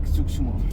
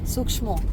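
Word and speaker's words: suksma: Balinese speak Sukshmo. Sukshmo.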